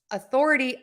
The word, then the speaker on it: authority: beginning autocracy audacity do I hear an O correct so Authority authoritarian the beginning of that word is not stressed most of the time